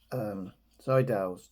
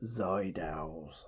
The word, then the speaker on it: Seydel: I think a lot of people call them Seydels. I don't know why. Because it's spelled with an S. Seydel. Anyway, Seydel. I say Seydel probably because a lot of people do.